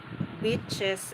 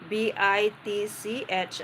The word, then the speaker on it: beach: BITCH and BEACH. So when you mispronounce these two words, so the person that you are talking with thought that you are saying a bad word to her, even you